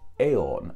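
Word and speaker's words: Aodhan: This god's name evolved into the Irish Celtic name of Aeon. And once again, this is spelt not as you expect it to be spelt. It's spelt A-O-D-H-A-N.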